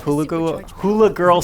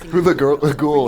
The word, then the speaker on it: Hulaghoul: You have your exploration, you have your puzzle solving, and you have Hula Girl Stella. That would have been funnier if I could say her name right. Hula Ghoul is the...